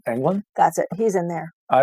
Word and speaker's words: Englund: How do you pronounce his last name? Englund.